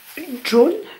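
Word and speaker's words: Joone: j'ai pas trop con ça se prononce john john bref une couche elles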